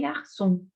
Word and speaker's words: garçon: Par exemple, les garçons. Les garçons. El chico, el muchacho. Les garçons. Cuando tiene la comita abajo de la C, se la pronuncia como una S. Garçon, garçon.